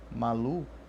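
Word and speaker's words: Màlúù: em cima do u a pronúncia correta PR Malu é Malu com dois US Malu tá o correto de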